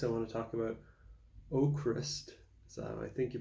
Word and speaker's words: Avkrvst: vowels in there but the v's are supposed to be like U's so it's ochrist they made it really